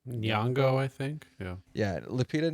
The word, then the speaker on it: Nyong'o: Nyong'o, I think.